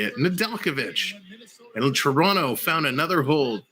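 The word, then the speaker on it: Nedeljkovic: for hall toronto shoots and they score nadalkovic that's how you say it nadalkovic and toronto found another hole kempf tips it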